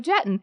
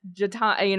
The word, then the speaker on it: Jetton: Yeah, and I just put underneath, I was like, it's Jatan, I did it phonetically as Jatan, it's Jetton, and that was it.